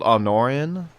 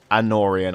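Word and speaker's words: Anórien: the way someone asked why are they called arnorian and they wrote they spelled it arnor but it's not Arno it's anorian I just pronounced it wrong because I'm [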